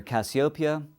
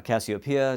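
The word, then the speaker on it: Cassiopeia: And this month, it's near Cassiopia or Cassiopia, depending on how you want to pronounce it.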